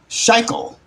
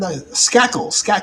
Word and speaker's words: Skakel: Kennedy gets married to Ethel Schackel. Yeah. Let me see. Did I pronounce that? Skakel. That's Skakel. Skakel.